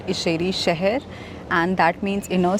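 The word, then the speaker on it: İçərişəhər: town or which is also known as ieri shaher or aeri Shah I don't know how to pronounce it right I checked with the lady at the Museum in shansa Palace that it's actually called isheri shaher and that means in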